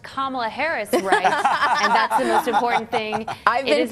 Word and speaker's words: Kamala: that's okay I forgive you because you guys pronounced Kamala Harris that's important thing is that it is